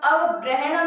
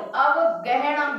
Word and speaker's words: अवगहणम: 63 सालाय भेयम, सिद्धम, अवग्रहणम नहीं है, वो अवगहणम है, केवल ग है।